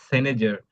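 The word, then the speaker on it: cynosure: y n o s u r e it's pronounced senager senager it's mean and the meaning of it's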